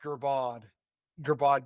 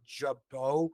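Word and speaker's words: Girbaud: I always thought it was pronounced Gerbod jeans. And honestly, I haven't heard Jabot pronounced until like the last handful of years and somebody going, oh my God, remember that? I was like, oh, that's what that was. That's how you said that.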